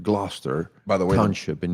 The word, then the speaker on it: Gloucester: I know when you find in the dictionary, you'll be provoked to pronounce Glossa, but our friends, the British, have informed me that it's actually their way of pronouncing it Gloucester by the way Township in New Jersey.